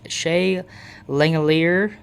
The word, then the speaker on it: Langeliers: Um, catcher I choose Shea Langeliers, is how you say it and stuff.